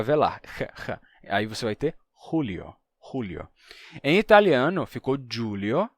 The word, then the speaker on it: Julio: x até ficar velar aí você vai ter rulio Julio em italiano ficou Julio a pronúncia se Manteve bem arcaica só que que